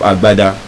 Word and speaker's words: agbada: to Oxford's pronunciation of agbada, guess how Oxford pronounces it? Oxford says agbada. Agbada. Why? Phoneme. Because in Yoruba, we have the B sound, GB, B.